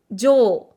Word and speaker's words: 上: Il va pouvoir se prononcer jo. Jo dans certains mots. Donc là, c'est sa lecture on.